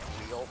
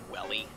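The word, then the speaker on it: Weele: Jackson Wheel, spelled W-E-E-L-E. Jackson Wheel. Oh, he's actually... His name is Wheel? Yeah, but spelled like Welly.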